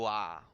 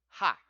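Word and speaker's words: は: Ha. But it is not ha. It is actually pronounced just like this consonant wa.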